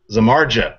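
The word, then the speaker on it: Samardzija: uh z uh and I say his name wrong every time Jeff zamar Zamara there we go I always tried to say Dia at the end because you know he looks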